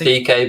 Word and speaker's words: Dike: Or here's an outsider for you, Daryl Dike from Orlando City. It's pronounced DK, but go on.